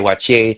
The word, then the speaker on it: Waakye: And then he got this restaurant called Rox Wache. Wache is spelled Wakye.